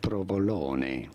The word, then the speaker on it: provolone: In Italian it is pronounced as provolone.